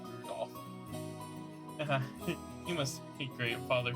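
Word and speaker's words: Rudolf: on it's just anyways this guy's name is pronounced rudol you must hate great Father for giving him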